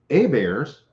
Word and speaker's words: Hebert: heberts and we have a bears same spelling h-e-b-e-r-t down here in louisiana because a bear is the french pronunciation of the last name so there were people